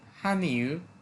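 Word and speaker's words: 汉语: উচ্চারণটা হবে হান ইউ এই ইটাকে একবারে হালকা করে বলে নরমালি যদি আমরা এই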